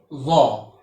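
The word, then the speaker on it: ظ: After paw, if you put one dot upon this shape, it will become zaw. Its pronunciation in English is Z-A-A, zaw.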